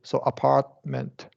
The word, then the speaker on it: apartment: Apartment. But in this case, this middle T also I don't pronounce, right?